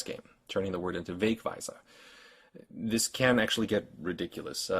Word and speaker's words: Wegweiser: Here, for instance, we have the German word for signpost, Wegweiser. The first syllable is accented, but the second one also has a mark.